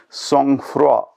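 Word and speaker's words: sangfroid: and our next word song fro the spelling s-a-n-g-f-r-o-i-d the peculiar pronunciation is because of its french origin in the original french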